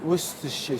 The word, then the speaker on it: Worcestershire: really easy to use, but now we're gonna add Worcester sauce. Yeah. So that's something Pronounce for me properly. Worcester or Worcestershire? Worcestershire sauce. Worcestershire sauce.